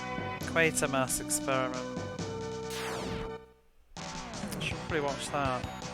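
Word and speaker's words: Quatermass: title B crawling eye officially quarter to rhyme with creater quater quater Mass oh yes there's no R quer Mass experiment should probably watch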